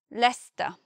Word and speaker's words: Leicester: Leicester. When we look at that word, the first guess would be Leicester, something like that. But actually it's only two syllables and we simply say Leicester.